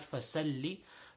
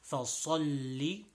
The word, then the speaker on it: فصل: So فَصَلِّ, this is a صاد, not a sin. So not فَسَلِّ, فَصَلِّ.